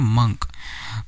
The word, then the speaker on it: monk: क्या लिखा है MONK, इसको मॉन्क नहीं पढ़ेंगे, इसे बोलेंगे मंक, ठीक है। इसकी जो प्रोनाउंसिएशन होगी, जो इसका उच्चारण होगा वो होगा मंक, इट इज़ नॉट मॉन्क, इट इज़ मंक।